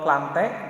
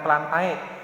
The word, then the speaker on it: Plantae: Itu yang pertama berdasarkan kingdom Plante. Jadi ketika ada huruf ae di akhir kata itu disebutnya ya, bukan plantae, tapi dibacanya plante.